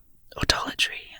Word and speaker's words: autolatry: Autolatry, a noun, the worship of oneself. This useful word is pronounced autolatry with a stress on the second syllable.